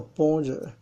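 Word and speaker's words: 般若: 字是般若，它念作般若，是妙智慧的意思。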